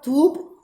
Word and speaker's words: थूप: रास्ते हैं उन पर थूप, यानी स्तूप का पाली भाषा का ये प्रोनाउंसिएशन है, उन पर थूप बनना चाहिए जो वहाँ